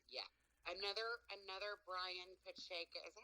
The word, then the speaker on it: Pacheco: If you look up when Drum Dums made the review of Toys Not for Children, he like butchered my last name. I was like, Pacheco.